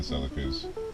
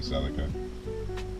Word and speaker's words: Celica: So, as standard, these wheels did not come on all the other Celas or Celas, however you choose to pronounce it. I call it a Celica.